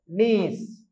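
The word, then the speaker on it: knees: செய்ய வேணும்டா இதை படிக்க வேணும் இது தரவு தாரர் நீஸ் இது கேக்கு உச்சரிப்பு இல்லை தெரியும் தானே உங்களுக்கு என்ன இதுக்கு நீஸ்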